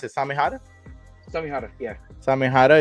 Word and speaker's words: Samehada: watch Naruto um this is how do you pronounce it samada samih yeah samehada it's a sword one of the swords from